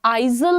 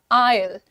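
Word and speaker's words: aisle: तो ये जो बीच का एरिया होता है इसका प्रोनंसिएशन आइजल नहीं है। The pronunciation is आयल आयल आयल।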